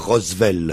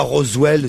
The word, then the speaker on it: Roswell: vous vous pouvez dire Roswell hein sincèrement ah oui là quand même vous êtes le seul au monde à dire rosevell ah oui oui vraiment là Roswell c'est vous voyez c'est mais